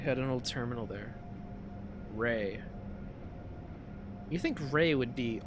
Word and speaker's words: REA: I've always said Rhea, but I've been told recently that it's actually pronounced Ray.